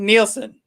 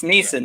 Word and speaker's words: Neeson: specific set of skills it's neeson there's no l it's neeson don't say yeah you